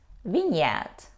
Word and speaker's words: vineyard: yes it's correct but we don't say a Vineyard we pronounce it vignette vignette it's a large